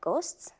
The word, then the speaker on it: ghost: it starts with GH we write H but we do not pronounce it we pronounce it eska